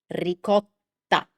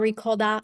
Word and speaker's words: ricotta: Same thing with ricotta. Ricotta. So, it's not ricolda, it's not ricota, it's ricotta. And finally, one of the